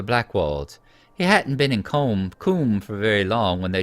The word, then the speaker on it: Coombe: It's hard to pronounce that Coombe, because in America that would be pronounced comb, as in honeycomb. But let's pronounce it the way that hopefully the English would.